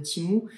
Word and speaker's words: Temu: regardez sur le site timu qui s'écrit temu d'ailleurs si jamais vous